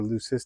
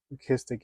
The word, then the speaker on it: leucistic: a real Fascination for lucis or listic as it's more correctly pronounced listic animals these are porcellio